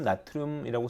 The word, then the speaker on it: 나트륨: 양이온 such as sodium, 나트륨이라고 쓰고 소듐이라고 읽는다. 칼륨이라고 쓰고 포테슘이라고 읽는다. 왜 영어식으로 읽는 게 아직까지는 더 국제적으로 인정받기 때문이죠.